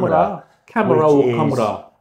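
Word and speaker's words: Khamrah: everyday smells um LFA KRA is actually pronounced Kam camra a amazing the performance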